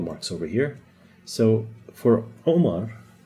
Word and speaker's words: Omar: Now, the name Omar, everybody says Omar, with an O in English. The actual way to pronounce it is Omar. Omar. It's coming out from here.